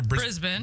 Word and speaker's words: Brisbane: But during a show on that Friday is it Brisbane or Brisbane? Brisbane.